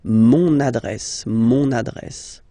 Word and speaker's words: mon adresse: address, mon adresse, okay, you can hear now this little link, so you've got to pronounce this N, mon adresse, okay, and the last